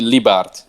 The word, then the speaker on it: Lybaert: it right but uh you can call me libart that's the bar yeah